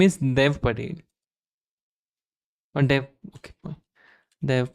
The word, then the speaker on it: Dev: is what I'm saying with a slightly longer D you don't want this you want de you're calling Da okay Dave is not right no okay fine